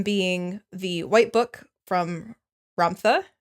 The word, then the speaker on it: Ramtha: One of them being the white book from Ramtha. Rampa. Dr. Joe pronounces it Romtha.